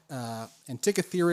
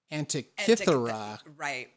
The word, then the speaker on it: Antikythera: I've actually heard there's kind of two ways to pronounce this, but Antikythera is one and Antikythera is another one.